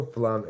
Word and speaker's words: Flum: F L U M. Apricot. Flum. But they pronounce it in the sh They go flum apricot.